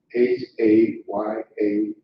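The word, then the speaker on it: הָיָה: H-A-Y-A-H. That is correct. How would you pronounce that? Yeah. Haya. Yep, haya is how you pronounce it.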